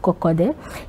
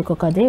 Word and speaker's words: Kokodé: Nadin Taïwo Kokode. Il est le président du mouvement Encore. Monsieur Kokode, bonjour.